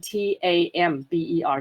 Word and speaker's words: timbre: Timbre 这个字非常非常重要，就是尤其我们在讲音色的时候，我们都讲这个字是比较难念，是 timbre，它不是 timbre，大家要稍微注意一下，是 timbre，它是念成 tamber 的音 timbre。